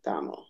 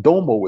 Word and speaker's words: Domo: And it's like, but I just told you it's Damo. Why are you dropping So the O? it's not Domo, it's Damo. Damo.